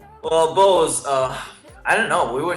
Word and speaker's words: BEAUZ: And then we changed to BEAUZ officially about a year ago because people just had so much difficult time to pronounce our name. Yeah. Like some calls us, some calls us, whatever.